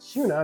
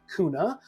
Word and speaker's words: Kuna: kuna so this is this town here is pronounced kuna not kuna as a lot of people might pronounce it